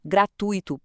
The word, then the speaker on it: gratuito: E filantropo, gratuito, público e recorde são todas paroxítonas.